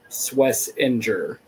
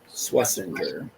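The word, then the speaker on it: Schwesinger: He said, "For the sake of clarity, the number 33 pick in the draft pronounces his last name Swissinger." Swissinger.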